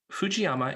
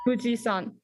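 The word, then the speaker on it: 富士山: another more excuse me fujiyama is one possible pronunciation of the japanese name for mount fuji what is another more common way of saying mount fuji in japanese limbruck high school annie fujisan limburg high school that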